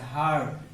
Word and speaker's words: heard: কিন্তু এইখানে দেখো একটা অ্যাকশন ভার্ব আছে, হার্ড। তোমরা জানো যে হেয়ার মানে শোনা, এই হেয়ার ভার্বটা যখন পাস্ট পার্টিসিপল হয়ে যায় বা পাস্ট ফর্ম হয়ে যায়, তখন এই হেয়ারের উচ্চারণটা হার্ড হয়, কখনোই হেয়ার্ড হবে না।